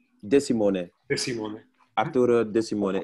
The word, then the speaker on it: De Simone: Hoe spreek je achternaam uit, Arturo De Simone? De Simone. De Simone.